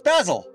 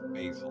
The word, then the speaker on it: Basil: In the U.S., the word Jesus Christ is pronounced Basil, but in England, it's pronounced Basil, like, because it's wrong. But like, for the leaf, it's Basil.